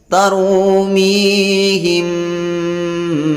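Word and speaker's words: تَرْمِيهِمْ: Perhatikan di sini huruf ra yang diawali baris fathah dibaca dengan tebal. Tarumi. Selanjutnya ya sukun diawali baris kasroh matabi'i dipanjangkan 2 harakat. Mi, tarumi, panjang bunyi minya 2 harakat.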